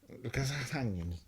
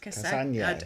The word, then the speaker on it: Cassagnes: Oh, please pronounce it. Andre, I can say that. Yeah. CASSAGNEYS. Andre sorry? CASSASSAGNEYS. Okay. Andre CASSAGNEYS. CASSAGNEYS. Cassagnes.